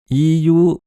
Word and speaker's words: EU: Iyu, oui, il prononce ça à l'anglaise, est en alphabet latin, ce qui est courant pour ce genre d'abréviation prise à l'anglais.